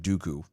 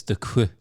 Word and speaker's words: Duque: It's actually pronounced like Dooku. Duque. Duku. It's Duque. Duku.